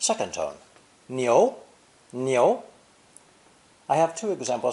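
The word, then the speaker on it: 牛: character for ox cow and it's meat beef pronounced second tone neo neo i have two example sentences some people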